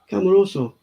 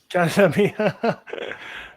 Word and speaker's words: Casemiro: Cameroso. Casemiro, sorry. Casemiro.